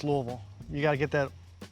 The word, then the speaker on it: Louisville: Today, we're visiting Louisville, Kentucky. Or is it Louisville? Louisville, not Louisville. It's Louisville.